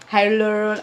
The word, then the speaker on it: hyaluronic: So the first product that we are going to talk about is the hyaluronic. I usually have a tongue. You say it how it's spelled.